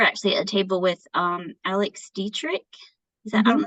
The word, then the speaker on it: Alex Dietrich: So we were actually at a table with Alex Dietrich.